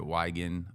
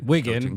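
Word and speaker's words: Wigan: coach now he's at weigen uh wiggin because they're gonna correct you bro yeah wiggin sorry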